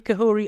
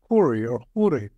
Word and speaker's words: Khouri: much needed Aid Ramy kahori uh welcome to midatlantic how are you today I am good uh just to correct the pronunciation my name is corri you know uh thank